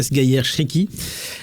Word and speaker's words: Sghaier Chriki: Donc déjà merci d'avoir prononcé mon prénom correctement. Donc c'est bien Sgayer Shriki.